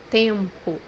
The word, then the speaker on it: tempo: in Portuguese moram, moram, The third pronunciation for letter M is pronounced like a light N in English. The example that we have here is the word time or weather, which means in Portuguese tempo, tempo, The eighth letter that